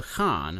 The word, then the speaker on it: Khan: So, the Khan, huh? Yes, I pronounced that correctly. Right. It's taken from an Altaic word. And that's how it's supposed to be pronounced.